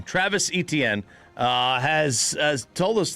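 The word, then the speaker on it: Etienne: Travis Etnen uh has has told us that it's not exactly how he pronounces his last name anyway. So it growing up it Travis Han.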